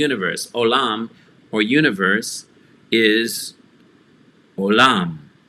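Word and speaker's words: עולם: olam or universe is olam olam so we have a consonant which is ein which is silent and then a vowel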